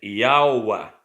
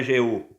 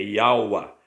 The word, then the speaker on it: Jeú: Esse J aqui, ó, tinha conotação de I. Ele era pronunciado antigamente como I. Então é Yaua. Tá vendo aí, ó? Não é Jeú, é Yaua.